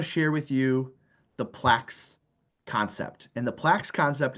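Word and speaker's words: PLACS: all right so the Plax concept and it's pronounced plaqu like plaques on the wall um and the reason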